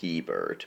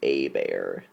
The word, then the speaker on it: Hebert: to think it was Hebert but no it's actually a bear it's an a bear it's like a French Cajun pronunciation yeah they called him